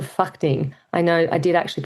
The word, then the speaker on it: Phakding: What that means is first you arrive in Lukla and you'll see you actually go downhill to a place called Phakding. I know I did actually pronounce that right.